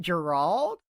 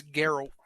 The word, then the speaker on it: Geralt: Is it Gerald? Is the T actually Geralt. a D? It's Geralt.